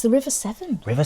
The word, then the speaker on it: Severn: It's the River Severn. River Severn. Oh, it's spelt differently though, isn't it? It's like the Seven number. as in the number.